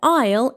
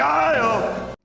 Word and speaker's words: aisle: Again, we have a silent letter here. It should be pronounced like isle isle and it is a walkway between rows.